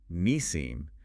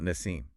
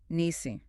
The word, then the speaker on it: Nisim: And let's not forget her partner, Nisim, not Nassim. Nisim.